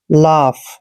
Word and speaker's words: laugh: देखिए दोस्तों इसको अक्सर लॉग पढ़ते हैं, जो कि गलत है, इनका प्रोनाउंसिएशन ऐसे नहीं करना है। एल का उच्चारण हम ले करते हैं और ए को आ की मात्रा पढ़ते हैं। दोस्तों UGH जहां भी तीनों लेटर इकट्ठे आते हैं उसको हम फै पढ़ते हैं। लाफ, ऐसे लाफ।